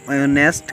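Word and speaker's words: honest: जो ऑनेस्ट का पहला वर्ड क्या एच, एच क्या इसमें साइलेंट।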